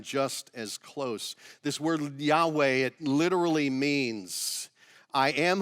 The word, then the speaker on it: Yahweh: loud historians say that the best pronunciation is probably something like yahweh yahweh which is fascinating to